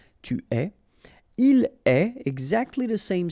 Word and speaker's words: tu es: Okay, so je suis, final S not pronounced, tu es, okay, so it's quite strange because you get this ES, but then phonetically it's est, alright, quite open, tu es.